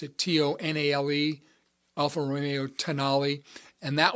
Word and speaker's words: Tonale: I think that's how you pronounce it, Tonale, Alfa Romeo Tonale.